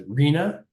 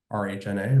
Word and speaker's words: RHNA: And I would say the history of this process, the Regional Housing Needs Assessment, which you will sometimes hear referred to as RHNA, R-H-N-A, RHNA. The history of RHNA in